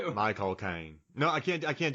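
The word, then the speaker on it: Michael Caine: You say my as in possessive cocaine, the drug. My cocaine. Yeah, that's literally it. That's all you got to do. My cocaine.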